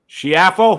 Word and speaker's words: Schiaffo: This is Schiaffo.